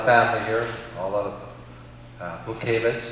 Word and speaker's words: Butkiewicz: here all of uh book havens i know that's the polish pronunciation right okay i got